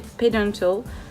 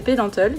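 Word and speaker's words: Pédantix: C'est Pedantal. Non, c'est Pedantalle et c'est Pedant en anglais.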